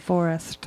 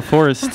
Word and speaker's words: Phourist: or I don't know very strange P pH making a f sound can't be legal people